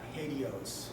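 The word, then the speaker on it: HATEOAS: This is Hadios. It's like Cheerios, basically.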